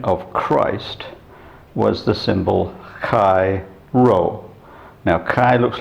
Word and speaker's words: chi: ages the abbreviation of christ was the symbol kai ro now kai looks like an x and